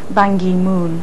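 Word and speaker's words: Ban Ki-moon: confirmed that his own preference for an English pronunciation would be bangi Moon so with the middle K pronounced as a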